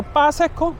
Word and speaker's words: Baseco: 헬로 바세코. 여기가 바세코라고 안 하고 빠세코? 막 이런 식으로 발음을 하더라고요.